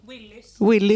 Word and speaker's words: Willys: How do you pronounce it in a Swedishy way then? What? Willys. Willys. You have to bounce a little bit.